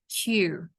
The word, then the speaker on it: queue: It's a British one, which simply pronounced as Q.